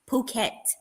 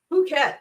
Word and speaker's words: Phuket: Yeah, and in Asia, they pronounce PH. It ain't an F sound. The P makes a P and the H makes H sound.